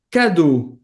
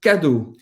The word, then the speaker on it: cadeaux: E presta atenção aqui que o E, A, o X, a gente vai falar como se fosse o O. Les cadeaux, les cadeaux.